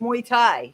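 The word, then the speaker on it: Muay Thai: MU mu Thai team I've seen mu mu Thai however you pronounce it wow that's pretty cool so they're gonna participate in MO however you say that it's a you know they kick it's like a kickboxing but it's muy Thai it's Thai boxing um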